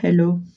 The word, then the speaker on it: hello: Parce que je mets baby hello. Hello. Faut prononcer le H en anglais.